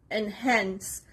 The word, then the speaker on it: enhance: Enhance. The stress is on the second part, on the letter H. Enhance.